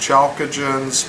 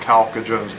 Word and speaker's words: chalcogens: There's chalcogens, which I'm pretty sure can be pronounced chalcogens, but I'm more sure about chalcogens being the way you say that.